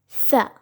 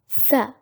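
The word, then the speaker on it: ثاء: The original sound of this letter is Th. Th. Now most of us may get confused with the sound of this letter and the letter F, Fa, but these two are completely different in the way we pronounce it.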